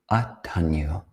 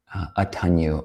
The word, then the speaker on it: Attaññū: But as we mentioned, the topic for today will be Attaññū. That's spelled A-T-T-A, Inya, long U. Attaññū, or Attaññūta, the quality of Aññā, of knowing, or the intelligence regarding Atta, or the self.